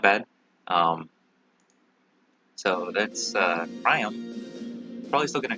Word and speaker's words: Priam: Okay, Priam apparently is how it's pronounced according to Faye.